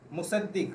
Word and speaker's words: मुसद्दिक: मेरी आवाज़ आ रही है मुशाहिद आपको? हाँ, अब आ रही है सर। सॉरी, मैं आपका नाम गलत प्रोनाउंस कर रहा हूँ, एक बार अपना नाम बताइए। मेरा नाम मुसद्दिक है। मुसद्दिक, राइट? जी सर।